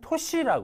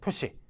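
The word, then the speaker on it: 年: 이런 거 있잖아요 그죠 신냉이 훈으로 읽을 때는 도시라 그래요 토시 뭔가 이렇게 나이와 관련 있고 그죠 토시 하게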